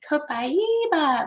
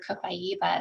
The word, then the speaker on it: copaiba: going to tell you the way we say it is copaiba like in um in brazil where copaiba essential oil is sourced